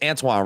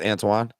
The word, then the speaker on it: Antoine: if you don't know Pinto is antoan Pinto or it's Antoine right not Antonio it's Antoine I'm not familiar with the pronunciation okay well Antoine or I want to say it's Antoine because he's French which Antoine would sound more French uh so um antoan